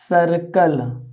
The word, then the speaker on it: circle: अब देखिए बच्चों, सी के बाद क्या आया है, आई आया है। तो इसको हम क्या कहेंगे, इसका उच्चारण पढ़ेंगे सर्कल। क्या पढ़ेंगे बच्चों, सर्कल, क्योंकि CIR सर CLE।